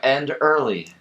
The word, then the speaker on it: Enderle: It's end early. End early. Yeah, that's right. That's right. So I heard about Dr. Enderle online, and because I'm